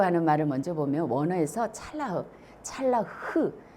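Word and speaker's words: צלח: 이 형통이라고 하는 말을 먼저 보면 원어에서 찰라흐, 히브리 발음은 끝에가 이렇게 흑 가려뱉는 것처럼 마치 이 찰라흐 이런 거죠.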